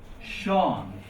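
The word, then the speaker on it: Seán: That's why you see famous name Sean. Because it's S-E, so it's a slender S sound, sh.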